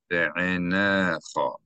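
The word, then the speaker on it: בְּעֵינֶיךָ: Here the aleph is sounded as a consonant. It's a glottal stop because there's a vowel associated with it.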